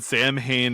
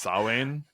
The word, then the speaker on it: Samhain: they do, and then Sam Hain is written in blood, although I guess it's pronounced Samhain.